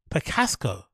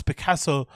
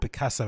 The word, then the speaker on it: Picasso: what did you hear did you hear how you pronounce Picassa no I've never heard that in my entire life he say picco picco see heit that again or anybody picco they have to oh my picco have you ever heard anybody pronounce Picasso picco no way